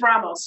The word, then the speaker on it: Ramos: And is your middle name pronounced Ramos? It's Ramos. Yeah, Ramos.